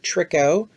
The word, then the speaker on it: tricho: forms for the hair are tricho pronounced like trick-or-treat and pilo you can use